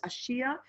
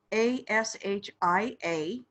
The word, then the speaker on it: Ashia: What I'm hearing is Ashia. And I believe that's correct. Okay. Ashia.